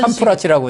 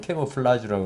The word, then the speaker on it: 캐모플라지: 그런 캄프라치라고 하죠. 우리는 쉽게 얘기해서. 한데 우리 정확한 발음은 캐모플라지라고 그러는데 그런 전략일 수 충분히 있죠.